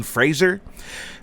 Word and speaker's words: Fraser: Oh, did I mention that bar guy is 90s heartthrob Brendan Fraser? Pronounced Razer with an F in front.